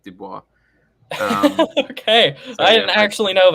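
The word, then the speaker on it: Du Bois: I always pronounced it Dubois but apparently his ancestry was partly Flemish not French oh so he always insisted it was Dubois not not Dubois okay I didn't actually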